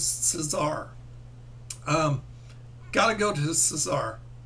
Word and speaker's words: Cesar: I actually had it had I've always pronounced it se Caesar Romero, but I heard it was Cesar.